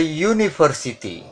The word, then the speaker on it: university: A university, tulisannya U. Tulisannya padahal huruf vokal U, namun pengucapannya huruf mati.